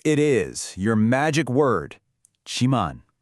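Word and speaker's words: 지만: And here it is, your magic word, chiman. It's pronounced jiman.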